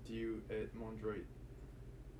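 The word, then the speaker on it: Dieu et mon droit: in my right is due at mondroid is the correct pronunciation god in my right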